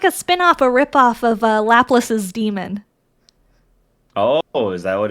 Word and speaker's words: Laplace: For it's like a spin-off, a rip-off of Laplace's demon. Oh, is that what it's referencing? Yeah, so it's Laplace is Laplace. Oh, Laplace. Yeah. Oh, I never even. It's spelled the same, Laplace, but Laplace.